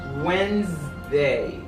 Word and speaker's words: Wednesday: a system that's foggy you this it is pronounced as Tuesday Tuesday okay what 1/4 cup iam schewe s Wednesday when they that d is of silent whether